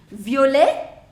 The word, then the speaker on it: violet: Now pronunciation. Violet, violette. Violet, violette. The pronunciation of masculine singular, masculine plural is same.